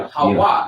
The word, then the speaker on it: Hawah: You'll even see it as a W, Hawa, because in ancient Hebrew it's pronounced as Wa.